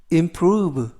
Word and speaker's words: improve: 항상 자신의 일에 부지런해라는 뜻이 되겠습니다 이번 표현은 improve improve improve라고 발음하시면 되겠고요 이때 단어가 약간 길어서 강세를 알려